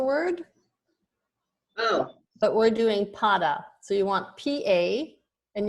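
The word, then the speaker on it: pāda: We'll do pada. And that's a long A at the beginning.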